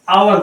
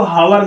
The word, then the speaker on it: hour: जैसे आप देख लीजिए, जैसे HOUR लिखते हैं आप लोग, इसको हम आवर बोलते हैं, इसको हावर नहीं बोलते, इसको ध्यान रखना।